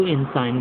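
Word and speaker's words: ensign: आई जी एन इंसाइन तो अपन साइन बोलते हैं ना तो मैं उस हिसाब से इसको इनसाइन बोल रहा हूं ठीक है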